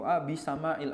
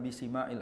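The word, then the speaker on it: بسماع: Ngomong-ngomong soal bahasanya tadi altibatilati bisamail azan bukan bisimail azan. Jadi masdarnya sami yasmau adalah sama bukan sima. Ini al alakhta asyaah. Ini kesalahan yang tersebar luas di kalangan masyarakat. Bacanya bisima. Harusnya bisama.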